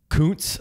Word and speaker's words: Kuntz: But Zack Kuntz. I'm gonna go with that's how you pronounce that because the other pronunciation would you know Mike the F. CC might there's a called.